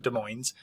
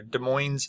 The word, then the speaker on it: Des Moines: People from Iowa actually pronounce it Des Moines. Whether or not that's actually how it should be pronounced, because as I understand it, it's French in origin.